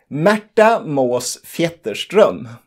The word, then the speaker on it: Märta Måås-Fjetterström: it again it's not a common name no matter most theaters drum and from now on we will simply call